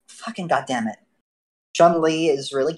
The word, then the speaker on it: Chumlee: __ ] damn it Chumlee is really where did you get into your head that it's pronounced Joon Lee I don't know look